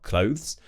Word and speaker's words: clothes: So I've heard some people say clothes, and then other people really struggle to get that THS at the end of the word, clothes. It's quite hard to do.